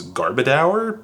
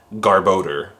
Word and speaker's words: Garbodor: For the longest time, I used to pronounce this Pokemon's name as Garbodor, but it's actually Garbodor, which makes way more sense.